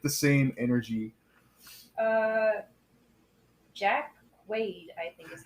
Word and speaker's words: Jack Quaid: Jack Quaid, I think is how you say that name.